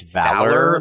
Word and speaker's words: Valor: And I actually don't know how that is pronounced. I pronounced it Valyor, but it is... I think it's Valor. Like the word.